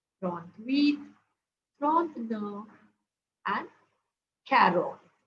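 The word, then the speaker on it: quatre: wheat FR no and carot okay carot it's pronounced as car apply the same rule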